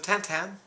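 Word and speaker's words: Tintin: 13 million adventures of tantan i insist on the french or shall i say belgian pronunciation uh 11 million um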